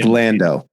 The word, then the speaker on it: Londo: Pronounced Londo.